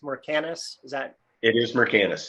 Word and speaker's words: Mercanus: little bit more about your company did i pronounce it correct mercanus is that it is mercantus that is correct